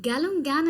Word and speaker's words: Galungan: And in Galungan and Kuningan, I'm saying it right?